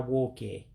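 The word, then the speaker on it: nwoke: And then you see at the next word being Woke, and it's like the N is silent on that one. So that's why it's being pronounced Au-Kam-Moe-Tah Woe-Kay, professor or male professor, to be exact.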